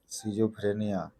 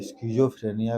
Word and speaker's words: schizophrenia: जैसा कि आपने बताया शिजोफ्रेनिया या स्जो फ्रेनिया भी कई बार उच्चारण किया जाता है यह एक मानसिक बीमारी